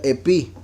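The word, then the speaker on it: ἐπί: In es la palabra griega en la concordancia que se pronuncia epi.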